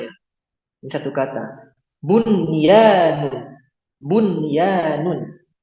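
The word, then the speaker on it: بنيان: Bunyanun, bunyanun, qinwanun. Kemudian yang terakhir sinwanun. Nah, cara bacanya gimana?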